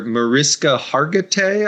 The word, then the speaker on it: Mariska Hargitay: from Law and Order, Mariska Hargitay, I think it's pronounced, but she has a